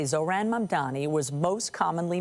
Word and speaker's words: Mamdani: Babbel and the captioning group say Zohran Mamdani was most commonly mispronounced, with people swapping the M and the N in his last name.